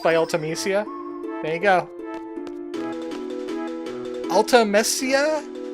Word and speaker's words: Ultimecia: Ultimecia? Sounds like ultimatum? So maybe that's how you pronounce it?